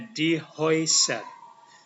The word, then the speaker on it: die Häuser: A umlaut dan U ini dibaca OI. OI. Jadi ini bacanya die Häuser.